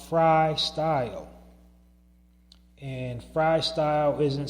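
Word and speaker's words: Frii Style: of the Narrative Podcast is a business called Fry Style. And Fry Style isn't spelled for branding purposes. It's not spelled F-R-Y. It's spelled F-R-I-I, style.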